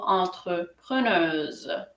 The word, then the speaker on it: entrepreneuse: সো এখানে যখন entrepreneuse হচ্ছে, এখানে অ্যাসটা হচ্ছে দুইটা ভাওয়েলের মধ্যখানে, তাই এটার উচ্চারণ হবে জর মতো, আর সর মতো হবে না। সো আমরা বলবো entrepreneuse।